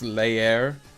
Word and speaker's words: leer: Did you know that in Spanish this word means to read and it's pronounced leer?